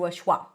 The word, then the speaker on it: it: So, the it doesn't change much, but often it can be reduced to awah. Awa is a very neutral vowel sound.